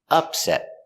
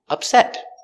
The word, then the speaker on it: upset: sometimes upset sometimes upset the noun is pronounced with the stress on the first syllable upset upset is a noun